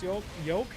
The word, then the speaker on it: yolk: Why did I say, I don't actually know how to pronounce yolk? What? I don't think I've ever pronounced the L before, and now it's like coming in strong.